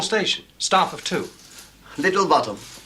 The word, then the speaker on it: Botham: don't want a description just the name little bottom sir but it's spelled both them and it's pronounced bottom I've just told him that I know thank